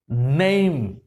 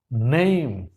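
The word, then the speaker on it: name: দেখেন এন এম নেম ন এই ম নেম ন ম নেম উচ্চারণ অনুসারে খেয়াল করছেন আবার একইভাবে এই শব্দটা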